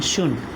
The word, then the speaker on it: should: Right, अंकित, यहाँ देखिए शुड नॉट लिखा है, लेकिन पढ़ने के दौरान हम क्या यूज करेंगे, शुड। ठीक है, यहाँ देखिए लिखा हुआ शुड, जहाँ पे ड साइलेंट है।